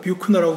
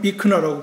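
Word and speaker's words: Buechner: 어 비 저는 그냥 그 스펠링을 보 뷰크너 불러야 되나 그러는데 미국 사람 비나라 부르더라고요 그래서 비나가 맞겠죠 아 그분이 이제 좀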